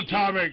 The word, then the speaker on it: monatomic: Monoscopic or I think it's some sort of gold that they needed it for their atmosphere. Monatomic.